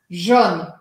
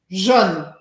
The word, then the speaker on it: jaune: E no sul da França, esse Jaune, que eu estou agora forçando até um pouco, Jaune, não se pronuncia com um som tão fechado. E a gente acaba pronunciando assim, ó, Jaune, Jaune. Que é diferente de Jeanne, Jeanne.